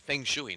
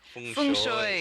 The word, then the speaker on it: feng shui: I asked Edward last night how to pronounce it, and he said Feng Shui. Yeah, there you go. So. He's been living in China, so Feng I suppose Shui. different people, different places pronounce it differently.